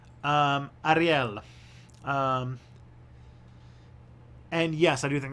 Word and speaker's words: Ariel: So it's probably Ariel. That would be the closest that I would get with if it's Spanish. Ariel.